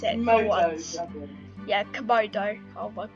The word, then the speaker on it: Komodo: So Komodo dragon, I finally know how to pronounce it. Komodo dragon.